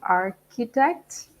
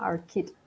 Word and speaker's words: architect: I would also like to mention something important about pronunciation of architect. Even though CEH is pronounced ch, in this case it's pronounced ka, architect.